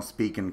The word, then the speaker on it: Spigen: So here's my original Spigen case, which I don't know if anybody's ever